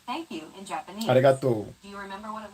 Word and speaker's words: arigato: Pronouncing it like an English R, however, would be a huge mistake. To Arigato.